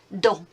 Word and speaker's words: dents: Next one, inside la bouche, you will find les dents. Les dents. And again, remember you can have that silent, lazy sounds at the end. You don't need to pronounce them.